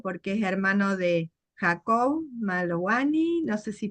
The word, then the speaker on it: Malowany: En Eh, realidad la W se pronuncia B, como Volkswagen como, es Volkswagen y no Volkswagen. ajá, muy Así es, bien, muy Malovani, bien.